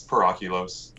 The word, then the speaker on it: PerOculos: It's a dead language. It's Latin. It's PerOculos.